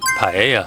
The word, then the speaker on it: paella: Today we are making paella. How is that again? P. Absolutely. One more time. It's pronounced like paella.